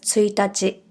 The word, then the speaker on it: 一日: If you have already learned the dates in Japanese, you know the first date of the month is spelled the same but it’s read as ついたち.